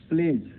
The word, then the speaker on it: pledge: जी वर्ण से पहले तथा कुछ आम शब्दों में, जैसे प्लेज, प्रतिज्ञा आप लेते हैं, प्लेज सुबह सुबह प्रतिज्ञा लेते हैं, तो उस प्लेज में क्या है? PLEDGE, इसमें डी जो है वो साइलेंट है।